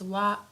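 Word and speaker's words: は: So although here this is hiragana ha but sometimes we pronounce it as wa wa.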